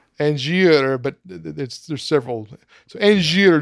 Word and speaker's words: Angier: He introduces himself as Angie, or How would you pronounce his name? Angier. Angier, but there's several.